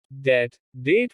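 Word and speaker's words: debt: B is silent after M or before T. जब B M के बाद या T के पहले आता है तो B का उच्चारण नहीं होता। कोम कंघी। थम अंगूठा। डेट कर्ज।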